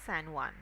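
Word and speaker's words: San Juan: I guess morning san J u A N the spelling was J U A N but the pronunciation is Sanan okay which we are going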